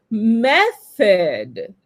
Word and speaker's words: method: Et si vous faites l'accent tonique au bon endroit, en fait, sur la première syllabe, et du coup, ça